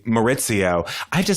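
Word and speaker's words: Mauricio: I also have to say, I think Maurizio, to use Lisa Vanderpump's pronunciation. Maurizio. I think. And you remember how Kim Richards would call him Maurice? That was the best. Yeah, she'd be like, I don't know, Maurice.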